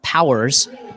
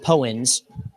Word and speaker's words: Powers: And excuse me, I pronounced that name wrong. Powers, not Pens.